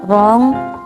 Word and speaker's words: wrong: last the letter W the letter W is silent When it comes before R like wrong R Right and It's